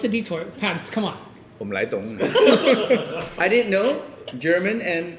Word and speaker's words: Umleitung: Umleitung. I didn't know German and Cantonese is similar. Umleitung, huh? It's actually pronounced Umleitung. Like That's what I said. Umleitung.